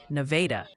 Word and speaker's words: Nevada: It seems Nevada, Missouri is pronounced more like Nevada.